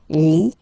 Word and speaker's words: Lituanie: Remember in French, sorry, H doesn't exist, okay, so you don't pronounce it, and it's Lituanie, Lituanie, la Lituanie.